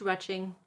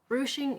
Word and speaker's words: ruching: it will be the ruching sample are you CH ing often mispronounced retching don't know why but it's a thing so ruching is defined